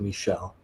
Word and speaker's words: Michael: They're French, so you pronounce it Michel.